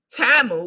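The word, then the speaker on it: Temu: and in fact this product is carried on TAMU because that's how you pronounce it we found that out during the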